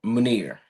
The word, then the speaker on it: Maner: Maner. Maner. It's like Veneer, but Maner.